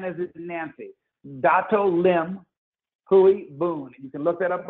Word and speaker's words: Dato Lim Hui Boon: man named Tan Sri, or most famously as Dato Lim Hui Boon. I'll actually say how you can Google him and get the information. I'll spell it D-A, as D as in David, A,